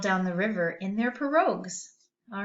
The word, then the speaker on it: pirogue: This word comes from another language, so it's going to be a little different in its spelling. So it's pronounced like this, pirogue, pirogue.